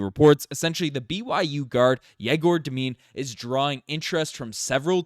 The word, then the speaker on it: Egor Demin: Egor Demin, that's how you pronounce it, as according to a YouTube video before I started this.